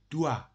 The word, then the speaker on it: doit: All three of them are pronounced doit. But the only difference is in written form, the third one has T at the end instead of S.